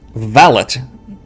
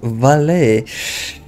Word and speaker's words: valet: is a woman right valit guess they didn't program the correct pronunciation of valee but i'm guessing that